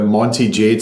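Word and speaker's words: Monte Jade: the chairman of the I hope I pronounced this correctly the Monty Jade Science and Technology Association yes that's correct great you're also a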